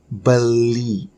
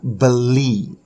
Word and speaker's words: beli: Beli. Okay, beli. Beli is spelled B-E-L-I.